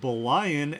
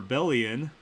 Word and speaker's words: Bulhan: Number 1 is, I'm really sorry if I say these names wrong, Bulhan and Lustella, pronounced, oh crap, you put the pronunciation in, pronounced Belian and Lystella, or Bellion.